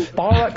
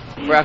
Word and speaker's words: Barack: Rhymes with Iraq. Still, Obama's not sweating it. The American people are not concerned about middle names. Barack Obama what?